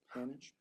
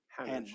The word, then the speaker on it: Hanage: Hanage. Rhymes with marriage. Hanage. I'm not fancy. Okay. Hanage.